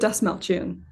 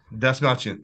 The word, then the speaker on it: Dastmalchian: How do you pronounce his last name? David Dastmalchian. Dastmalchian, thank you very much.